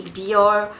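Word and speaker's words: Bioré: Substitutely, instead of using this facial mask, sometimes I do use the Biore, that's how we pronounce it in Malaysia.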